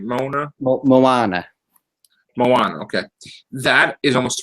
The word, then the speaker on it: Moana: to Find Them well actually let's go with Mona first Mona is that am I saying it right Mona Mo Moana Moana okay that is almost 300 million so